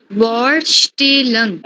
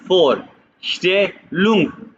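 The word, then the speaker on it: Vorstellung: alphabets याद करो तो ये वी फॉर फॉर एस जहां भी आएगा की आवाज निकालेगा ठीक है फॉर स्टंग लफज़ क्या है जो प्रोनाउंस करो बोर स्टंग हां वही ना बोर नहीं है फॉर स्टे लंग बोलो भाई फोर स्टेल फिर वो बी को फ की फोर स्टेलंग फोर स्टेल या फोर स्टेलंग में इंट्रोडक्शन ठीक है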